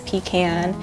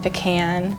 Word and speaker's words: pecan: But eating one of the 10,000 pies Millican Pecan Company is making every year might be a lot easier than saying it correctly. We hear a lot of pronunciations such as pecan and pecan, but the proper way to pronounce it is pecan.